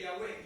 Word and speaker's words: Yahweh: original debe haber sido Yahweh. Su significado se asocia con la idea de ser o existencia. Yo soy el que soy. Sí. Gracias, hermano. YHWH, Yahweh. Así se lee Yahweh.